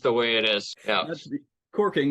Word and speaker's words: caulking: Yeah, it's spelled caulking, but it's pronounced corking.